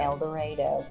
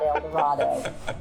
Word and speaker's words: El Dorado: El Dorado, per the locals. That's how you should say it. It is not El Dorado.